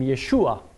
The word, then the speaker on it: Yeshua: If you put the accent in the middle, it's a masculine name, Yeshua. If you put the accent on the end, Yeshua, it's a feminine noun. It's the word for salvation.